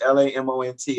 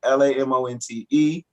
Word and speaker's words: Lamont: You know, uh, the most common one is the spelling with LAMONT, but I get LA, my name is LAMONT. I get LAMONTE.